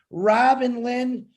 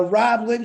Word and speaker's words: Rob Linn: cool but it's late Robin Lynn the no I gotta say it right the Rob Linn show starts in uh